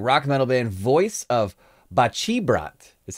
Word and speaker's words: Baceprot: been saying wrong rock metal band voice of bachibrat is how you actually pronounce it this one's a Rage Against the